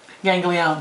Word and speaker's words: ganglion: How do you pronounce that? Ganglion.